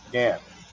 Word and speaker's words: Ghan: G A H N, Gan. That's how it's pronounced. Prefix, suffix, okay, it's at the end. Ferry Gan.